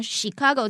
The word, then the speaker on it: Chicago: But sometimes there are some words, even though it's CH, it has a S kind of sound to it. 那在这边呢，芝加哥这个字，通常啊，我们在学英文，老师都会说 ch 很顺嘛，对不对？但是有一些字呢，就像 Chicago 这个字，芝加哥这个字，它是发不是发曲哦，要特别注意它的读音。